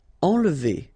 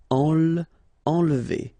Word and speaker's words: enlever: Enlever. Okay, nasal here, en, and then don't insist on this here. Enlever.